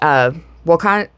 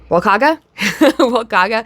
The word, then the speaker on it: Walukaga: Walukaga seems to just kind of ignore the U in the middle of it, which I found interesting.